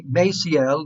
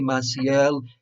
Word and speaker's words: Maciel: The C is pronounced as an S, so don't get complicated. Don't make things complicated. It's the same. Maciel, Father Maciel. Americans may want to say Maciel.